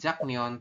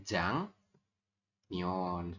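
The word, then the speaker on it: 장년: Berarti teman-teman nanti membacanya bukan jak neon tapi jang neon.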